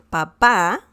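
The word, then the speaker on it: papá: how you pronounce it if you add an accent mark on the last a the letter a the last one papa that changes okay and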